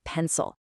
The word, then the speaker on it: pencil: The stress is clearly on pen. That means the vowel in the second syllable which is spelled with an I becomes awah. So we don't say pencil, we say pencil.